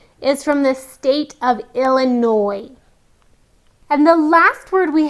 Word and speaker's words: Illinois: is the state of Illinois now I know it looks like we have the word noise-like sound but the S is silent so Abraham Lincoln is from the state of Illinois and the last word